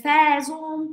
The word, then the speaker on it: faisons: Nous faisons, se escribe faisons, pero pronuncio faisons.